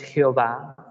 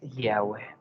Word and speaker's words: Yahweh: El nombre, primero, el nombre del Padre no es Jehová, no es Yahvé, su nombre es Yahweh.